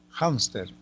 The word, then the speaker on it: hámster: Hámster, penúltima sílaba.